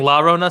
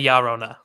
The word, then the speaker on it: Llorona: Spanish, not really, but 2 L's is its own letter, and it's like a y. So it's A B C D E F A La Llorona. Llorona. Ya Llorona. Yeah, I can't do that. I'm white as shit. So Llorona. Instead of saying La Rona, say Llorona.